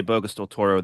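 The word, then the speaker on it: Bocas del Toro: So the the the local people on the island uh because because Boo Can you pronounce that for me again? I know you say it bokeas del Toro.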